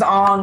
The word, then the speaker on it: Aang: And the child that they cast is Aang, or Ong. Let me correct myself, because it was Ong in the movie, and Sokka.